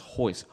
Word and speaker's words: Royce: In Brazil, or in Portuguese, I don't know which of the two, but the R is silent. So it was spelled Royce, like Royce, whatever. No. But it was pronounced Royce.